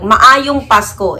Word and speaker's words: Maayong Pasko: Maayong Pasko in our language.